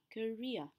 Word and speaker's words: career: chán thôi avoid career career bạn nhớ là từ career trọng âm rơi vào re và I would After